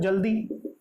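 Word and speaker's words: joule: जूल मैंने आपको बताया था, इसको जूल प्रोनाउंस करते हैं, जाउल नहीं.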